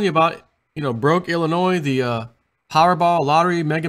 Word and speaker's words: Illinois: people are fleeing Illinois Illinois yeah because it's full of noise even though the S is silent they are fle fleeing